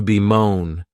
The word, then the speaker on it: bemoan: The next verb is to bemoan, and this verb has 2 syllables, and the stress is on that second syllable.